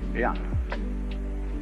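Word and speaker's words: jen: In Confucius philosophy, the fundamental virtue of a human being is called Ren, spelled J-E-N, for reasons best known to Chinese scholars. I don't know what they are, but it's pronounced Ren.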